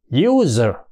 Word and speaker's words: user: hai chấm tức là u dài đó y user user thì là do đó cái giờ giờ đó chính là một consonant là phụ âm nha chứ không phải nguyên âm vì thế cho nên